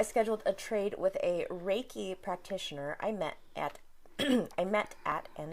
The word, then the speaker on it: Reiki: But I know, if anything, I know that it's pronounced Reiki.